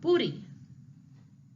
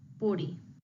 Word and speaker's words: puri: You can say it just like the D if the double R is a little bit harder to pronunciate, but puri, puri.